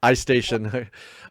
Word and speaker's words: iStation: is station is that is that how you say it is station oh yeah that makes sense I stationed I was being too literal on that um iStation we're waiting